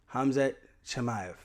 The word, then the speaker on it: Hamzat Chimaev: Hamzat Chimaev.